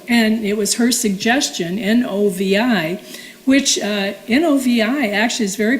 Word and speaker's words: Novi: But in Europe and everything, that's how they pronounce it, Novi. It's a short I.